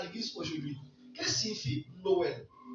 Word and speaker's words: Noël: Le mot Noël quand tu vas prendre le mot Noël il y a deux syllabes dedans. No dira- L. Noël.